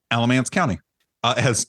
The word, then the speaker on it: Alamance: Fun fact, the town of Mebane is located in both Orange and, pronounced it the way it's spelled there, Alamance County.